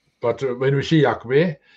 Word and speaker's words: Yahweh: But the first, we know the first part of the name is Yah. There's no doubt about it. All the names where it appears seems to have Yah at the beginning. That's the first syllable. The second syllable we don't know. Yahweh, we don't know with that.